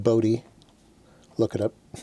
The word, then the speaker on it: Bode: No, it's not Bode. It's actually pronounced Bode. Look it up. Bode plot.